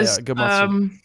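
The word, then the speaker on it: Gematsu: Jamatsu, do you pronounce it that way? Yeah, Gamatsu.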